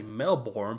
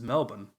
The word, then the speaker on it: Melbourne: want to say it number one you want to say it like Brisbane but it's Brisbane you want to say you want to say Melbourne but it's just Melbourne you want to say lawn